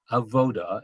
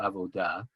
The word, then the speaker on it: avodah: that you're a major a voter and i'm going to use that pronunciation as opposed to avodah um in the spirit